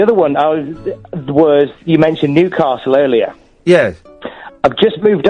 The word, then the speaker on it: Newcastle: one was you mentioned Newcastle earlier. Yes. I've just moved up here, and I was calling it Newcastle. Yeah. And I got told off for it. It's not Newcastle. It's Newcastle. Newcastle, yeah.